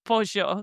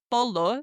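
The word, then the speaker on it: pollo: No, it is bojo. So now whenever you see chicken in Spanish, don't say polo.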